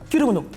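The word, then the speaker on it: Kiru'mono: se prononce correctement alors ça se prononce à la japonaise avec estomac c'est kirumuno kirimo kirimuno donc c'est K i r u apostrophe m o n o kirimo kirimuno je suis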